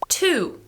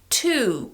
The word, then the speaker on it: to: now let's look at two the strong form is to with a long ooh however the weak forms have two different options you have to which is like the strong form but just with a slightly